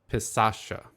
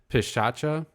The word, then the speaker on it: Pishacha: It's the Pisasha. And I know I'm mispronouncing that. Even just saying the word right now, I feel like I fucked up the pronunciation. Pishacha, I think, is what it's called.